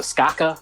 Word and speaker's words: Skaka: The Skaka by I don't know.